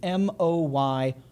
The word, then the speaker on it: Moy: vowel is O so this is m o y Moy is how that is pronounced so on and on